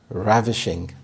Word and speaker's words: ravishing: Ravishing, ravishing. The stress is on the first syllable, and this means stunningly beautiful.